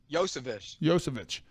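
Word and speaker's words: Iosivas: I'm not even going to try to pronounce his name, but he was... Yosevich. How do you say it? Yosevich.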